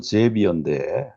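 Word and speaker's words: Xavier: 영어로는 제비어인데 한국말은 아마 이걸 사비에르라고 읽어야 될 것 같아요. 제비어 알렉산더 머스크인데 사비에르 알렉산더 머스크, 한국식으로.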